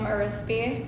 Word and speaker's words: Arispe: first name is last name urispi arispe is how it's pronounced i always say rice crispy and people remember it